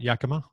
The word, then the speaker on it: Yakima: with was the yakima sun kings have i pronounced that right yakima yeah yeah okay of the continental basketball association